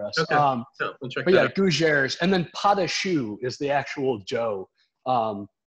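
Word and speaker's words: pâte à choux: it happen for us um yeah and then padashu is the actual joe um because you know in culinary world everything's like these base recipes at least in french cooking so the base dough is potashi um which is spelled even weirder i know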